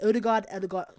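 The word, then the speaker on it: Ødegaard: It pronounced Odegaard's. That's what he said. Odegaard.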